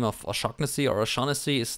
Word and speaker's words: Shaughnessy: So it's there's two ways. The English way is Shaughnessy, but it's an Irish name, and the area from where it comes from, you should pronounce it Shaughnessy.